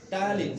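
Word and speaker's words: ptyalin: ঠিক আছে, বই দেখেন লেখা আছে স্যালাইভা টায়ালিন, সামনে পি দেওয়া আছে, তাই না? বা পি এর উচ্চারণটা শুধু আপনি করবেন না, উচ্চারণটা টি থেকে হবে, কিন্তু পিটা কিন্তু দিতে হবে। টায়ালিন না?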